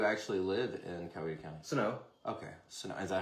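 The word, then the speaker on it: Senoia: Sonoa. Okay. Sonoa. Is that how you say it? Sonoa? I say it Sonoa or Sonoya. I never say Sonoy.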